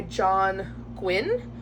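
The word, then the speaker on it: John Gwynne: the last book I got was malice by John Gwyn that's how you pronounce his name I have where is it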